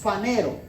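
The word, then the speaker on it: φανερόω: que dice panero pero se escribe ph y en el ph se pronuncia panero ok que éste sí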